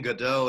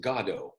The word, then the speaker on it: Godot: And we decided to pronounce it God-ot, for a lot of reasons.